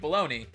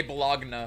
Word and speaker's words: bologna: I'm like, why is it pronounced that way? Like, baloney. Like, baloney. I always just say Bologna because that's how it's spelled, so I'm gonna pronounce it like that.